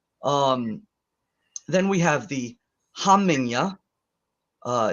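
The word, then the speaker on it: hamingja: then we have the hamanya uh it's h-a-m-i-n-g j a sohamming ya the J is a y sound so it's not homing um so this sounds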